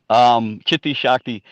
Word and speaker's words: Chitti Shakti: Chitti Shakti. Yes, that's the correct pronunciation.